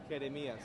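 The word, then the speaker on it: Jeremías: How do you say Jeremiah in Spanish? Jeremias.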